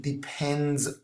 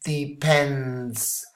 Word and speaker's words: depends: And even worse, most people have problems with the pronunciation of this S. And a lot of people move it here and they say it's depend, and that's totally wrong. Okay, pronunciation should be it depends, and the S should be sibilant here.